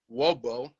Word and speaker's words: Wobo: my name is michael wobo you know so phonetically is spelled w-o-b-o so it makes it rhymes with hobo well makes it easier